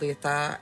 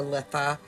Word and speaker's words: Litha: on Midsummer which is also called Letha and it's also called or litha however you want to pronounce it uh Midsummer and summer